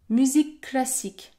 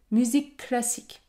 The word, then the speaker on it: musique classique: autre exemple musique classique musique classique le son termine le mot musique et le son débute également le mot classique dans ce cas je vais pouvoir prononcer une consonne longue musique classique si c'est difficile pour